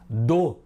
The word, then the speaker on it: do: Dó a gente fala forte. E o som é aberto, alegre, ó. Do a gente fala fechado, o.